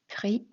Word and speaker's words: pris: Man hör inte s när man uttalar det. Nous avons pris.